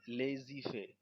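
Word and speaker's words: laissez-faire: hand and এটার প্রোনাউনসিয়েশন এটা একটা ফ্রেঞ্চ ওয়ার্ড একচুি এর প্রোনাউন্সিয়েশন লেজি ফে লেজিফে মানে লেট ইট বি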